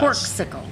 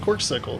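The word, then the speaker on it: Corkcicle: uh corle so glass corkle cork sickle there we go I'll say it right so you can put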